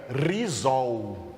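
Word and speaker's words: ῥιζόω: Para arraigados, Paulo usou o verbo grego que se pronuncia rizol, tá?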